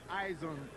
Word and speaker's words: Izon: Eizen.